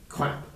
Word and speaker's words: QAP: Well, if you can achieve the milestones laid out in the crap work package for preparation and I'm sorry, is that QAP pronounced quap? Yes.